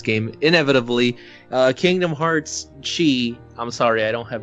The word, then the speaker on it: χ: dumbass Chi is pronounced like Kei sake